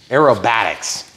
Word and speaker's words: aerobatics: little bit more aerodyne not aerodynamic but acro aerobatics acrobats are what people do aerobats aerobatics are what planes do yeah that's how that